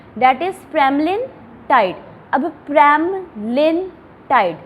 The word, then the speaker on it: pramlintide: प्रेमलिनटाइड bracket में देखोगे ना आपके लिपिनकॉर्ड के अंदर, ब्रैकेट के अंदर कैसे प्रोनाउंस करना आपने ड्रग को वो मेंशन है, प्रोनाउंसिएशन मेंशन है, दैट इज़ प्रेमलिनटाइड।